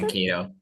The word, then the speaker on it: Mankato: Mankato, yeah.